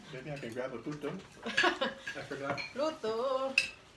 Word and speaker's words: puto: It's like Pluto without the L.